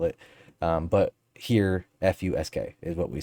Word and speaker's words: fusk: p-h-s-u-p-h-u-s-k-s-k you know whatever however you want to spell it um but here f-u-s-k is what we said fusk we always fussed